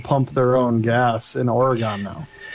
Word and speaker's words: Oregon: favorites Oregon um I always just say o pronounce it o r YG u n Oregon Oregon like that so I know it sounds silly